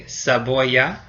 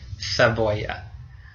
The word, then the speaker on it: cebolla: So in Latin America, that sound is S, like an S. And in Spain itself, that sound is a th, like TH in English. So this word on the right would be, in Latin America, we would say cebolla.